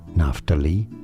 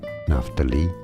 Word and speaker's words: Naphtali: how to actually pronounce two different ways of pronouncing it they're both pronunciations are correct naftali or enough to lie naftali or not to lie and now you